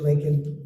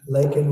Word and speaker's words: Laken: months of bring him Biden couldn't pronounce her name said said Lincoln Lincoln Riley and Lincoln Riley is the football coach coach and uh this was in Congress couldn't even get the name right uh Laken was a brilliant young